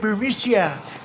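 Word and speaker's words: Burisma: executives so this uh bureaucia bermusia they say pronounce it burmesia a real beautiful company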